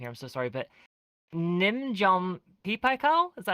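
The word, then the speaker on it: Nin Jiom Pei Pa Koa: I'm so sorry, but Nimjom Pipakao? Is that how you pronounce it?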